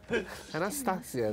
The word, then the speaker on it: Anastasia: Qual a pronúncia correta? Anastasia, né?